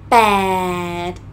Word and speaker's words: แปด: You use your lips to pronounce it, huh? B sound, pàed, and it's a long sound.